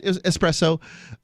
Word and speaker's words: espresso: there's a town right espresso thank you for pronouncing it correctly there's no eggs espresso um but no X in espresso no no X in